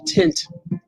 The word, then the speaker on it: tint: Wayne says, always remember to pronounce the N in tint. Yes, you must. You must pronounce it. Embrace the N. You must pronounce tint.